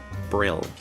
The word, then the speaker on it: Brill: Brill. Rhymes with krill.